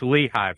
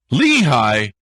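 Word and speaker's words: Lehigh: am well and it's leehi Valley leehigh wow okay there you go I I mean technically it's Lee High duh here in here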